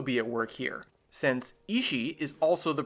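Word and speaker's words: 石: Remember how one of the terms for “intention” or “will” in Japanese is pronounced “ishi”? Well, this particular Kanji for “stone” is read “ishi” as well.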